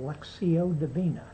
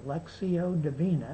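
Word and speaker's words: lectio divina: doing for the last couple years something called lexio deina it's spelled l e c t i o d i v i n a it's Latin lexio deina it means divine prayer or Divine reading excuse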